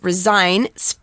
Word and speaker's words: resign: s i g n resign pronounced with a z there instead of an s means to officially announce